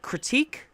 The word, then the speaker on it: critique: You see, if you notice, there's a little mnemonic trick you can remember, which is that critique rhymes with weak.